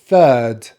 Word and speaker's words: third: pronounce the letter r because my accent is a non-rhotic accent and the vowel sound is exactly the same as in first we have the er when we drop the jaw a little bit uh so we start with the th sound third third and now we have